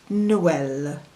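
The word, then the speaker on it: Noël: ey second word is Noel Noel which is the French word for Christmas without the it would be n n the third word is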